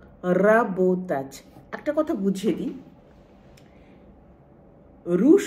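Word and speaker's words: работать: যে আমরা র বলি এই র এর উচ্চারণটা খুব ঘুরিয়ে রোল করে গড়িয়ে গড়িয়ে এই র এর উচ্চারণটা হয় অর্থাৎ জিভের মধ্যে অনেক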